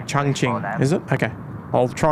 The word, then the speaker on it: Chongqing: Oh, it's pronounced Chongqing.